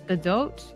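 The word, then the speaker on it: Gadot: gal G that uh there's been a lot of scrutiny about how to say it's GDOT I think it's gal GDOT like GDOT with an accent GDOT I'm probably saying it with much too much more European accent than I should g g doe but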